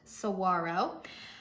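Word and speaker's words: Saguaro: Cyprus Saro Cactus yes I live in Arizona that word is pronounced sawaro midn notes of rose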